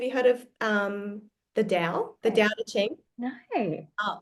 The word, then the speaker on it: Tao: of thing so the the Dow is spelled t a o oh I I didn't know that was how it's pronounced yeah DSM yes ah